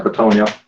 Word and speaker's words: Bitonio: Yeah, Bitonio. Oh, yes. Nice. Bitonio. My name pronunciation game is it's awful.